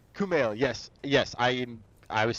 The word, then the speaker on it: Kumail: got who I can never say his name Kumai we know he talks about thank you yeah I'm so sorry name Kumail yes yes I I was seeing extra I